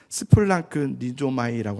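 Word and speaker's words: σπλαγχνίζομαι: 이 긍휼하다, 긍휼히 여기사라는 말이요, 스플랑크 니조마이라고 하는데, 한번 저를 따라 볼까요? 좀 이상한 말이 발음이 어렵지만 스플랑크 니조마이, 스플랑크 니조마이가 굉장히 중요한 단어예요.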